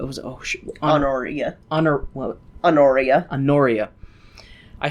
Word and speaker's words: Honoria: Anoria.